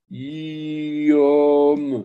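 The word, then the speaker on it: יום: Trois lettres. Vous avez un yod. Ensuite, vous avez un O. Ensuite, vous avez la lettre même. Qu'est-ce que c'est? Yom. Yom. Yom.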